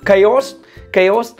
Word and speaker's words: chaos: từ nhé, ví dụ từ tiếng Anh nó có từ ciao ấy, kiểu C-H-A-O ấy, ciao đấy, nhưng mà không phải là phát âm là ciao đâu nhé, nó phát âm là cái gì, chaos.